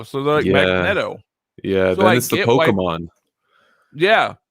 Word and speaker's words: Magneto: us up with somebody here's one magneto or magneto magneto yep i'm with you magneto that's another one i've heard people like magneto cheesy it's because it's magnet they're like a magnet